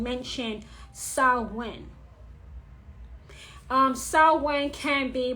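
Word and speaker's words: Samhain: of hot Spirit Halloween Party City and overheard someone mentioned so when um so when can be pronounced so when salvin and sauween those are the three pronunciations for sewing so when is not pronounced Psalm hand is spelled that way as um s-a-m-h-a-i-n but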